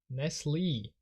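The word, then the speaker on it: Nestlé: E with an accent how do you pronounce this company nesle damn nesle pronunciation in the UK nobody says Nestle though anyway uh we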